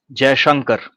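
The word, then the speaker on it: Jaishankar: I I think absolutely they have the foreign minister, it's gigant, how do you pronounce his last name? India's foreign minister J Shankar.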